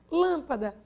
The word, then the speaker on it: lâmpada: Lâmpada, olha a última, dá. Penúltima, pá. Quem é acentuada? Lã.